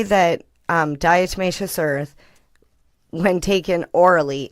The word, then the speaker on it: diatomaceous: Diatomaceous.